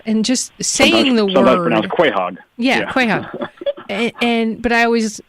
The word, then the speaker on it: Quogue: made me laugh and just saving the world quite hog yeah and but I always pronounced it as Quogue right but as you were saying the word